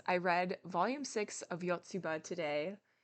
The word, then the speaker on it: Yotsuba: was saying this wrong I was saying it with my American Chicago accent it's yotsuba and I've been saying it yatsuba because that's just how